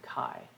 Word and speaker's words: chi: box for chi square which is the greek letter x but we pronounce it chi um and we're going